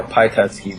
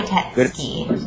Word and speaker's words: Pyatetsky: Am I pronouncing that correct? Yeah, Pyatetsky, but yeah, Pyatetsky.